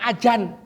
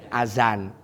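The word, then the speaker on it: أذان: Ada juga di sini yang bilang wis nang ajan. Azan dibaca azan.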